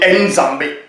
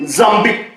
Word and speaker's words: Nzambi: Parce qu'il faut prononcer avec l'accent. D'autres vont dire Nzambi. Mais c'est Nzambi. Chez les Bakongo, ils disent Nzambi.